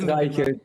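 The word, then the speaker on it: Reichelt: How do you say your name? Because that it's Reichert, but it's hopeless to pronounce for any English speaker.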